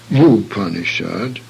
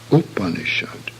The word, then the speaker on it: Upanishad: under tsongkhapa in sanskrit the initial sound is always short and should not be pronounced as the english word you therefore not move upon assured but Upanishad this term may be